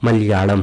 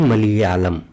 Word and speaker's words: मलयालम: प्रयोग किया जाता है जो हम मलयालम लिखते हैं उसका पहला ल यही नॉर्मल ल होता है जो दूसरा ल होता है यह हमारा यही विशिष्ट व्यंजन वाला ल होता है जो इसका उच्चारण होता है यह मलयालम होता है ना कि मलयालम इस तरीके से हिंदी